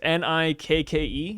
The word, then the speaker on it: Nikke: It's Nikke.